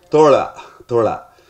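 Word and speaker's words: Thozha: The pronunciation? Thola.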